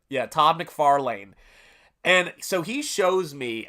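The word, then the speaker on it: McFarlane: guy named Todd mcfan we didn't know how to pronounce his name until we saw the videos and I said Todd m farlan I think it was McFarlan that's how he pronounced it yeah Todd McFarlan and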